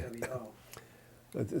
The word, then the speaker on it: wo: the word I, and that would be the word wo, W-O, which is Chinese. It means I, and there's no other way to pronounce wo, W-O.